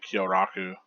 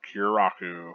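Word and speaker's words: Kyōraku: is you pronouncing uh kyoraku uh you know I was like you're kiraku and I was like no that's not quite it is it uh I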